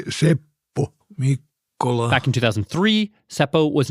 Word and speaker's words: Seppo Mikkola: In Finland, my name is pronounced simply Seppo Mikkola.